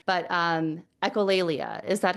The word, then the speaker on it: echolalia: I put it in Google to get the pronunciation, but echolalia.